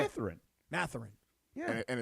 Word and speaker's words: Mathurin: Mathurin.